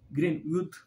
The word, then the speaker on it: Greenwood: o rabiot e o grenny Wood o grenny Wood grenwood é assim que pronuncia Ele tem ele divide a